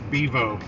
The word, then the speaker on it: Bevo: I'm like, no, it's Bevo. Bevo, pronounced after the Bevo Fox.